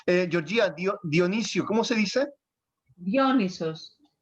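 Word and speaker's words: Dionysos: Dionisos. Dionisos.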